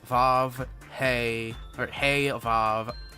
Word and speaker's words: Vav: I went and actually looked up how to pronounce all of the classifications yesterday because I was very confused. It's Zayin, Teth, Vav, Hey, or Hey, Vav, Aleph.